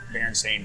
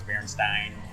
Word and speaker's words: Berenstain: used to know, like Berenstain Bears or whatever. I always thought it was Berenstein. I knew it was Berenstain, but it's spelled with a Stein.